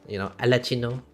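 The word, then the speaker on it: Arlecchino: Since we got the Chronicle stuff, and Miss the Father, Alachino. That's how you pronounce her name.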